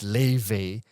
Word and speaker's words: Laufey: You know how it's you know how her name is pronounced in Icelandic is Laufey which she likes to correct people on but this one it